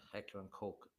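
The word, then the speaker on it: Heckler & Koch: Some pronounce that cotch, but it's heckler coke.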